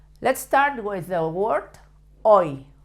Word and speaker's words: hoy: Let's start with the word hoy. Hoy means today. The H should never be pronounced in Spain.